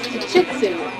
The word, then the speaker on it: Chichitsu: Yeah, her name is Chichitsu. Pronounced like a sneeze. 3 syllables.